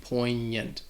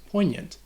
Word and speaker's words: poignant: All right, so this GN is that nasal sound, poignant, poignant, poignant.